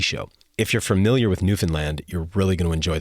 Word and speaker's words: Newfoundland: the rest of us routinely mispronounce as Newfoundland. They're quick to point out, however, that the island is in fact called Newfoundland, and don't you dare say it like that again.